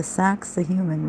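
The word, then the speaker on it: Sacsayhuamán: by laughingly telling them it is pronounced sexy woman I didn't even get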